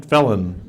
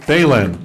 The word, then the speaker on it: Phelan: myth second bluffton by matt fellen pronounced phelan you can't at least spelled it phonetically that would have been the way to do it all right fairy tales